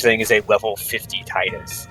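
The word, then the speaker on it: Tidus: Also, technically, I think his name is pronounced Titus. Ow. It is Titus. His name is pronounced Tit.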